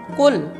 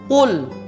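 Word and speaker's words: قُل: qaf dengan huruf Kaf dia tidak membaca dengan full tapi dia membaca membacanya dengan full full full Nah ini salah tidak boleh dibaca begitu karena huruf qaf dan huruf Kaf itu beda jadi bacaannya yang benar adalah full full dengan huruf qaf dan dia the tebal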